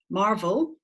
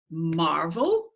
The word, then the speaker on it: marvel: zip mmm two syllables where's the strong syllable is it Marvel or is it Marvel what do you reckon Marvel or Marvel yeah syllable one right that's the strong syllable there ma now I've got a